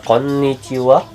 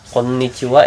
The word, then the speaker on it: konnichiwa: nyesal Steve lu ada Konichiwa Konichiwa ini ada dua jadi biar agak ditahan ya kayak kalau dalam bahasa